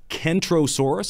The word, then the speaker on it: Kentrosaurus: can't do this but Kentrosaurus is spoken with a hard K while centrosaurus is pronounced